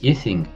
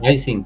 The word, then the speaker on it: Ising: los Estados Unidos Ernesto ising que lo pronuncian iing pero pues este señor era de Suecia no no no es así su apellido no la